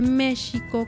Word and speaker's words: México: natural y muy orgánico a ese méxico que sonaba como unas no como muy suave para ellos fue muy natural ponerles la equis porque ya en en europa en españa la equis se pronunciaba así de hecho en ese tiempo la el sonido de la jota no existía todavía entonces era una es